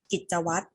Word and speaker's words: กิจวัตร: เป็น ต้น นะ คะ กิจวัตร ออก เสียง แค่ ตัว ต เต่า นะ คะ ตัว ร เรือ ที่ อยู่ หลัง ตัว สะกด เรา ไม่ ออก เสียง ต่อ มา คำ ที่